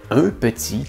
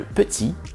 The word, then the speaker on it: petit: Pourquoi est-ce qu'on met un T complètement muet à la fin de petit et éléphant?